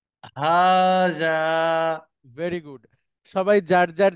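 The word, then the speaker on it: هذا: আপনি উচ্চারণ করবেন এবং দুইটা জায়গাতেই লম্বা করে বলতে হবে টান হবে অর্থাৎ এটা হচ্ছে হা এটা জাল হাজা হাজা ভেরি গুড সবাই যার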